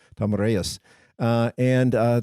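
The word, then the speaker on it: Tomyris: tomus ruled uh she Tomas is the actually how her name is pronounced Tomas uh and uh T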